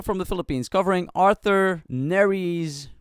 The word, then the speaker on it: Nery: This is from the Philippines, also from the Philippines, covering Arthur Nery's, pronounced Nery, hit Filipino single called Pagsamo.